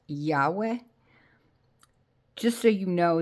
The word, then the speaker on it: Yahweh: in English is pronounced Yahweh, just so you know, there is no W sound in the Hebrew language.